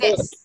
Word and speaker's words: this: Và từ này mình không đọc là zit, không đọc là zat, không đọc là zi dâu, được chưa? Không đọc thế. Bạn đọc này. This. Đặt lưỡi ngoài.